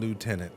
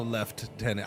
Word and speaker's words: lieutenant: It's It's lieutenant. No, there's no there's no left tenant. I mean, I I get the left tenant thing kind of and I don't blink if I hear it, but yeah, it's lieutenant, man.